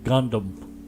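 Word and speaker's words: Gangnam: Rich of the country it's pronounced Gundam whatever gundam style whatever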